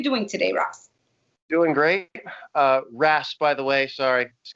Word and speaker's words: Ras: My first name is 3 letters, R-A-S. I've probably heard more than half a dozen pronunciations for that. It's pretty common. You know what the funny thing is? I knew it was Ras, but so I don't